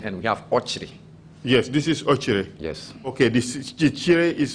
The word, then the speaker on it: Okyere: Ochiri. Ocheri? James we have Trrc and we have Ochiri. Yes, this is Ochiri.